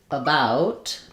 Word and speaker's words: about: So that's the sound in words like about. We have a clear a vowel here. But this letter a says uh.